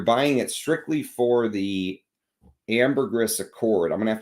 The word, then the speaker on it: ambergris: the channel, the reason I'm saying ambergris and not ambergris is because there was a book written by a guy who claims that he was with the actual ambergris hunters, and he says that's how they say it. That's how you're supposed to actually say it. You're supposed to pronounce the S.